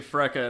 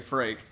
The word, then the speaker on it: Freke: You say Freka and I say Frake. Yeah, I think my pronunciation is what? Like, how the name would probably be pronounced in Northern Europe? Yeah. Freke.